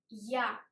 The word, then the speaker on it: я: Ya. The transcription I write in square brackets in Russian. Yo. Yo sounds like York. Ya sounds like yard.